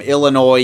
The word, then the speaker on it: Illinois: Wagner is also Canadian, aka farther away from Illinois, USA. I'm going to incorrectly pronounce it with an S because that's just funnier.